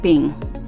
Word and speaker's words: PNG: is portable network graphics png or pronounced as ping it is an image